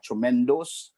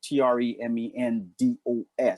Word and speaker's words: Tremendos: But out there they have Tremendos. So when you search in, just make sure you search with the Tremendos. It's DOS, not DOUS. It's spelled DOS.